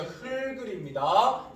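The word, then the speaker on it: 흙을: 그죠, 흘글입니다. 기억이 뒤로 넘어가는 거지 리을이 없어질 이유가 없어요.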